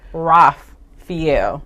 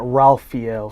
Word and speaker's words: Raphael: So it is pronounced Raphael. Yes, correct. Not Raphael.